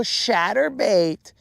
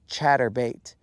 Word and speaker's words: chatterbait: Actually, it should be more like, oh, where's your little shatterbait? And I'd be like, you mispronounced it, bro. It's chatterbait.